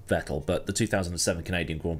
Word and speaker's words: Vettel: It's pronounced Vettel, but the 2007 Canadian Grand Prix is definitely